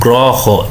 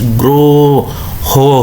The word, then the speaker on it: গ্রহ: এই যে দেখেন, এই যে আমরা একটা উকার দিছি, এই যে উকার দিছি, গ্রহ হয়ে গেছে, গ্রহ। তাহলে শব্দের প্রথমে অকার যুক্ত র ফলা থাকলেও তার উচ্চারণটা ওকারের মতোই হয়।